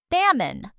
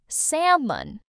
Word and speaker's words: salmon: This word has a silent L and it's a type of fish. Salmon. Salmon.